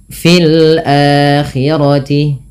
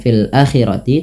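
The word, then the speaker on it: في الآخرة: memanjangkan Hunya dua harakat Fil akirti ini tidak dibaca dengan fil Akti tapi dipanjangkan dengan a-nya dengan a yang dipanjangkan karena ini terjadinya mad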